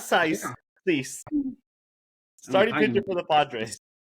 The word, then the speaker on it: Cease: Is it Cease? Oh, you did fantastic. Yeah, Dylan Cease. Yes. Cease, not Sice. Yeah. Cease.